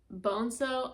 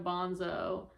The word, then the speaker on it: Boneso: I know um in the last um like chapter part I had said there's no way I'm going to remember to say boneso instead of bonso um because it's spelled like bonso.